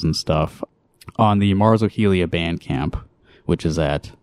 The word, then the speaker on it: hojilla: but if you need to know how to spell it h o j i l l a ohia uh you've got kiss your boys and Pinocchio